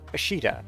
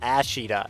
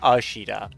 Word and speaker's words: Ashita: Noriko Ashita is how you say her name in English. See you next time. Later. And it's definitely not Ashita. It's always Ashita. Japanese does not have an ass sound with an A.